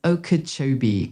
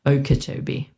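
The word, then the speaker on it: Okeechobee: You'd pronounce it as Okachobee County. The emphasis is usually on the Cho part. So, it sounds like Okachobee, but how does Juniper know?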